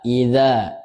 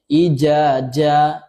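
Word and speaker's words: إذا: Idza. Idza. Ya, kalau pemula biasa membacanya ija. Ija nak satu dzal satu jim.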